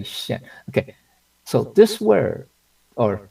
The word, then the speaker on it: 见: okay, now this word it's pronounced 现, okay, not 见, okay. 见 means to meet, okay, like 再见, see you again, right? Okay, you know, it means goodbye, okay, 再见. But this is 现.